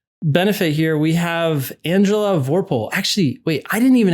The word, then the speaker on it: Vorpahl: Let's get Vorpahl, like the guy's name.